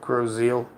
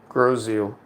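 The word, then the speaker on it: Grosse Ile: It's called Groseal. That is not how you would spell it, but it is Groseal.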